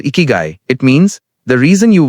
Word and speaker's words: Ikigai: The word ikiguai, pronounced ikiguy, comes from Japan, and it means something beautiful.